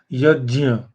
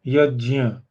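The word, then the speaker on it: यज्ञ: It has to be pronounced like j.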